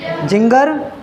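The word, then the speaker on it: ginger: gentleman, आई हैगी, तो क्या पढ़ा जाएगा ये, जिंगर, यहाँ पे देखो ई है यहाँ पे, है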